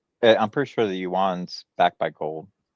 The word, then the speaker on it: yuan: The Chinese the yuan yuan.